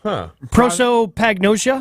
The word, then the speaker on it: prosopagnosia: So how do you pronounce this again, Ashy? Prosopagnosia?